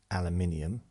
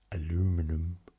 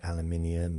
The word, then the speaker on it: aluminium: you know we clearly pronounce things differently like aluminium aluminum uh you know it's we we we call it aluminium and we say roof